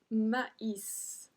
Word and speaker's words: maïs: Numéro 25, du maïs. Du maïs. So in this one, we pronounce every single letter.